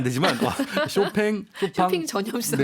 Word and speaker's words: 쇼팽: 예, 쇼팽 혹은 뭐 쇼팡이라고 발음하시는 분들도 계시죠. 네. 예, 쇼핑은 안 되지만 쇼팽, 쇼팡, 쇼핑 전염성이 네, 다 있으세요.